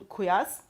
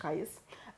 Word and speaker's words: Qais: For example, we know in Medina, Zayd bin Thabit, in Mecca, Abdullah bin Saib, in Basra, Amir ibn Abdul Quyas. Sorry for the pronunciation. Qais.